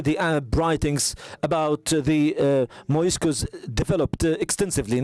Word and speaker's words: Moriscos: used it as Moriscos, the same way it is pronounced in Spanish, Moriscos.